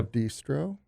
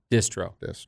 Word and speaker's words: Distro: Bistro yeah yeah Bistro distro distro but I would say like 20 of the times people say Bistro which throws me off a little bit but this throw is the proper way to say it it's your company